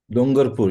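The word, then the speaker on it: Dungarpur: of, we said Dungapur, is that how you pronounce it? Dongarpur, yes, ma'am.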